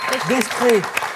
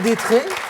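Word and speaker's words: d'Estrées: Gabriel Destré. Qu'on peut prononcer Gabriel Détré, Oui, aussi.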